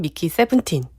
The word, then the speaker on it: 미키 17: 배우나 감독님 같은 경우에는 미키 세븐틴. 이라고 그렇게 말을 하시더라고요. 아, 표준 그 발음법에는 11 이상은 11로 하게 돼 있어서 한글로 하게 돼 있어서 네.